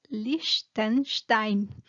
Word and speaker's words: Liechtenstein: no sé no nunca he escuchado que se pronunció en español liechtenstein no sé pero en alemán es liechtenstein y pues era un imperio se dice que